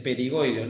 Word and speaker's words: pterigoideos: Entonces tengo estos otros dos que se llaman pterigoideos, pero pterigoideos se escribe con P. Entonces es perigoideo, no.